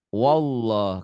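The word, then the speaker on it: الله: lafadz Allah itu ini dibacanya tebel wallah karena sebelum baris di atas tuh sebelum lafadz Allah di atas Kalau sebelum lafadz Allah baris di bawah itu tipis wallah Rasulullah Ya silakan Rasulullah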